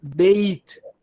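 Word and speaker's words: בית: Quando eu quero dizer casa de, eu vou falar beit. Então, vou pronunciar o Yud aqui mesmo, que a regra me diga não leia o Yud. Mas nesse caso, da casa de, eu vou ler. Se for casa de, é beit.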